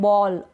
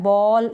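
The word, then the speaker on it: ball: उच्चारण हो रहा है बॉल। इसमें भी टोल नहीं पढ़ेंगे, इसको भी फोल नहीं पढ़ेंगे। बोल, टोल, फोल ये गलत उच्चारण हो जाएगा। बॉल, टॉल, फॉल यानी ए को ऑ प्रोनाउंस करेंगे आप।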